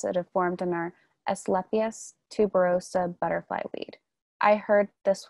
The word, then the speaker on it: Asclepias tuberosa: Should we remove the large pods that have formed in our Asclepias tuberosa butterfly weed? I heard this would encourage more flowering. I hope I pronounced it correctly.